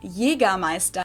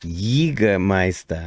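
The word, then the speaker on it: Jägermeister: way from shoes to alcohol this is pronounced yiga meister in german jaegermeister english speakers usually wow i've never ever heard it pronounced like that that's very very cool say it again announced yiga meister yiga meister in german jaegermeister accent and people also often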